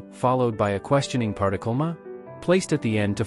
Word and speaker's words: 嗎: Uses ko to indicate its role as a question particle, and its pronunciation is based on ma. However, the tone shifts from the third tone of ma to a lighter tone in ma.